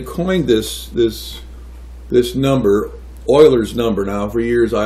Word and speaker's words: Euler: well they they coined this this this number Oilers number now for years I always pronounce this Euler's number because it looks more like Euler's to